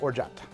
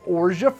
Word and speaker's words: orgeat: Orgeat if you're French, Orgeat if you're an American. Interesting. Orgeat. Okay, well, let's get to talking about that. Why is Orgeat French?